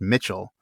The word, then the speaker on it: Michel: But in old English that C particularly before certain vowels like an I or an E, is typically pronounced the way we pronounce CH.